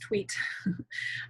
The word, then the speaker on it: Twedt: name is and my last name is pronounced tweet oh it's not the